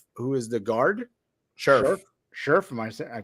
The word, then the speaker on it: Scherff: They also signed Brandon Scherff, who is the guard. Scherff. I pronounced it wrong.